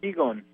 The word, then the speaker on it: qigong: Qigong.